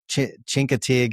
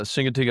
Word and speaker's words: Chincoteague: You told me how to pronounce it, Chincoteague or something like that island. I think it's pretty cool. Chincoteague Island, yeah, Chincoteague Island.